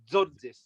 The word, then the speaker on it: Tzortzis: But basically, you put the T and the Z together quite fast, so it's like Tzortzis.